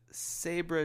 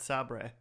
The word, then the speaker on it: Sabra: and the Sabra Jaguar fleets. It's pronounced Sabre.